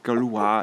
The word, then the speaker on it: Gauloise: Und der volle Name der Presshühner ist übrigens nicht Bresse Gauloise, sondern Bresse Gallois in der Aussprache. Also Bresse Gaulois, es kommt von den Galliern.